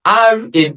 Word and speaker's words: R: Then we have letter R in English. But in Yoruba we pronounce it as ri.